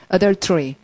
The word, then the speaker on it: adultery: 그리고 이제 간통이라는 말 소리 내시면, adultery. 라는 말은 동그라미를 여러분 ULTER로 하셔야 돼요. adult에 하지 마시고. adult에 하지 마시고 얼터에 하십시오.